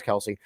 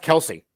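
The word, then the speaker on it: Kelce: they just recorded um because you have Jason Kelsey versus Travis Kelsey there is petitions going around for Mama Kelsey to flip the coin um by the way learn something um it's not pronounced Kelsey is it Kelsea right it's Kels yeah and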